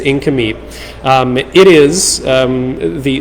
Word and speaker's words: Nk'Mip: that incompete sellers and that is how you say it you say inca meep even though it is spelled nk apostrophe m-i-p it's not nick mip it's incomey um it is um